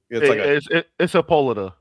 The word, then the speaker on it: Hippolyta: look up her name, like it has an H to it. It has an H to it when you look up her. Like they say Hippolyta? Yeah, it's Hippolyta.